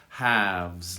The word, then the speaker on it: halves: That should be an F. Halves. Let's go halves. Let's split it. Halves. It sounds just like have, to have something.